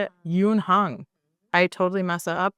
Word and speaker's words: Youn: Youn.